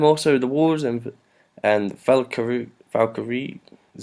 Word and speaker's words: Valkyrie: about that and also the wars and and Valkyrie Valkyrie is how you pronounce it valky run I'll cover you yeah